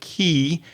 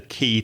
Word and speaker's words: quay: The first thing to say is that key is not spelled K-E-Y, like the key to your door. It's spelled Q-U-A-Y, but the pronunciation is key.